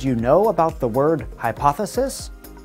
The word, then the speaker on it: hypothesis: know about the word hypothesis English speakers put stress on the second part of the word we do not stress the beginning or the end of the word we can clap on